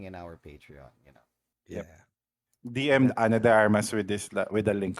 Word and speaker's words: Ana de Armas: Arma de Armas. Ana de Armas. Eh, say it right. Hashtag Ana de Armas.